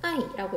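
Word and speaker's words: 爱: 사랑 애자를 중국식으로 아이라고 읽고요.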